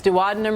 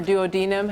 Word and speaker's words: duodenum: intestine, its three parts, duodenum or duodenum, however you want to pronounce that, jejunum, ileum.